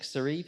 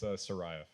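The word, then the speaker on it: Saraev: So I'll do a little intro for Nick, who is Nick Sareve. Is that how you say it? Not even close, no. Okay. How do you say it? It's Sarayev. All right, Nick Sarayev.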